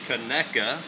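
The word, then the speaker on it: Conecuh: of the world famous keka sausage that is pronounced keka for all you people over in Jtown and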